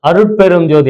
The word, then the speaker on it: அருட்பெரும்ஜோதி: முக்கியம் மகாமந்திரம் கரெக்டா உச்சரிப்பீங்களா அந்த இள்ு கிடையாது அருட்பெரும் ஜோதி ஏன்னா தமிழ்ல வந்து இள்ு போட்டுட்டு அடுத்ததுல பா வரும்போது அது வந்து டாவா மாறிடும் அருட்பெரும்ஜோதி தமிழ் கத்துக்கிட்டீங்கன்னா கொஞ்சம் அதெல்லாம் தெரியும் அடுத்த எழுத்தை பொறுத்து இது வந்து மாறிடும் தமிழ் வகுப்பு கூட ஆன்லைன்ல